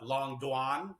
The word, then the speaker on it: Doan: They start calling me Doan instead. Like, is it Doan because it's spelled the same way? Like, sure, let's roll with it. So then, yes. Yeah. So I'm known as Long Doan, but Long Doan is my real Vietnamese pronunciation.